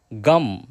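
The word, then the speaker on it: गं: गण के आदि अर्थात ग कर पहले उच्चारण करें। उसके बाद वर्णों के आदि अर्थात अ उच्चारण करें। उसके बाद अनुस्वार उच्चारित होता है। इस प्रकार अर्ध चंद्र से सुशोभित गम ओमकार से अवरुद्ध होने पर तुम्हारे बीज मंत्र का स्वरूप ओम गम है।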